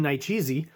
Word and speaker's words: Nicieza: get it wrong, but I've heard it's Fabian Nicieza. So I'm going to say it like that till someone corrects me.